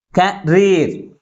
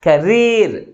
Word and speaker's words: career: Career. 2 syllables. But which syllable is pronounced with greater force? That is last syllable pronounced with greater force comparing with first one.